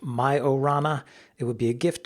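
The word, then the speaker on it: Majorana: show first uh a little bit of a pronunciation dispute in the last episode we talked about Microsoft's new Quantum chip called majaran 1 it's named after an Italian physicist aniss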